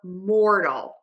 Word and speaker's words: mortal: then the or so same thing for Mortal more just like the word more again so we have